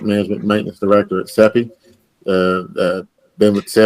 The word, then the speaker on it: SEPI: Now we move to the presentation, and I believe this is, how is it pronounced? SEPI?